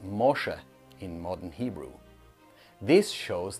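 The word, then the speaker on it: משה: The English name Moses is pronounced Mosha in modern Hebrew.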